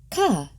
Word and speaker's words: Chet: (objects popping) Chet, pronounced "khah".